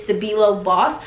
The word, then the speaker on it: Stabilo: The brand is Stabilo Boss. I think that's how you pronounce it.